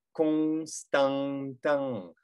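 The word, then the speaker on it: Constantin: Кон, там, потому что у нас ОН, Констан, АН, Констан, Тан, на конце ИН. Произносим улыбкой. А, и получается Константан.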